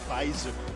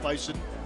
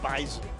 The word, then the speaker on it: Bison: North Dakota State, by the way, it is pronounced Bison, not Bison. Bison.